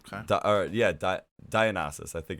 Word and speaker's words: Dionysus: Dionysus, I think it's how you pronounce it.